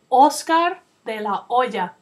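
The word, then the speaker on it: Oscar De La Hoya: De o remember that we don't pronounce the letter H in Spanish so his name is Oscar De La Oya from this picture it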